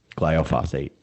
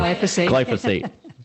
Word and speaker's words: glyphosate: the burrow from using gliophosphate is that did i say it correctly glyphosate different accent um new york just